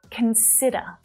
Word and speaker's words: consider: Can you hear the stressed syllable? Where is it? It's in the middle. Consider. But it's not I. All right, it's that short vowel sound. There it is. Consider. Consider. So even though it's a stressed syllable, that vowel sound is still short, though it's the strongest one, okay?